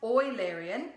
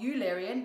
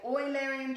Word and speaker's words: Eulerian: and oil Arian circuit it is pronounced oil Arian not Eulerian because the man who it's named after was Leonard Euler and so we say oil Aryan child and oil aryan